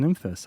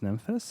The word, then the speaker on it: Nymphes: today with the dreadbox nyhus I believe that's pronounced nyus and uh to make